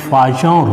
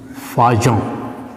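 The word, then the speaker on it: Fajans: हम लोग बोलते हैं फाजॉन रूल। इसका हिंदी प्रोनाउंसिएशन जो है ऐसे होता है फाजॉन, फाजान नहीं पढ़ेंगे, फाजॉन।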